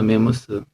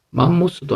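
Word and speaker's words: mammoth: 메머스. 맘모스도 아니고 메머드도 아니고 이게 스입니다. 스. 그래서 메머스 이랬습니다. 오리지널 발음은 메머스.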